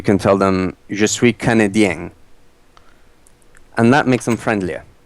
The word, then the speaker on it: Canadien: Canadien. With the accent towards the end.